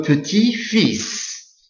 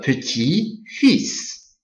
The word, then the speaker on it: petit-fils: Le petit-fils. So for this one, you don't pronounce the L, but you pronounce the S. Le petit-fils.